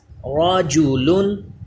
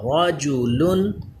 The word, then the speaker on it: رجل: رجل. را پر پڑھا جائے گا کیونکہ زبر ہے. لام باریک ہوگا. رجل. الم تر.